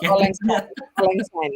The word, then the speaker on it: Auld Lang Syne: Bagaimana bacanya ini, Bu? Auld Lang Syne ya.